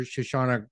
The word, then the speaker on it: Shoshana: long time uh Dr shashana uh but I don't know if I've pronounced your name right shash am I saying it correctly yeah yeah yeah okay well I've said